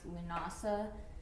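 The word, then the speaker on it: Lughnasadh: I think it's Lamas it's actually usually pronounced lunasa it was changed to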